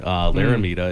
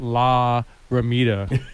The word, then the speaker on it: Laramida: Laramida is the way that you actually pronounce it. They're being really kind and not correcting me, but it's Laramida. It's just one word. It's not La Ramita. It's Laramida.